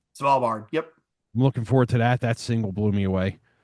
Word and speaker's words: Svalbard: Svalbard. Svalbard.